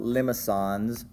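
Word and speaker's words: limaçons: Okay, the first we're going to talk about, well, these are all called limacons. Limacons, they have this little cedilla underneath the C, making it a soft C.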